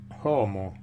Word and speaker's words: homo: una volta per tutte è l'epiteto è como con l'aspirazione sulla ca ingenio animo manu leiber